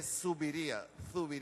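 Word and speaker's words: Zubiría: se llama Miguel de Zuviría, con Z, Zuviría, B larga, Zuviría.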